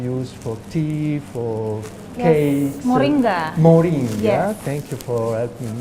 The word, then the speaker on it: Moringa: mention uh something that probably I Mis pron pronounce uh Maringa it's a flower it's a plant in an yes uh somebody introduced me to this flower which you can use for tea for cakes Moringa Moringa thank you for helping me H and